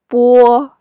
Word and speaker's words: bo: And O here doesn't sound like O. It would sound like wo. So together it will be bo, bo.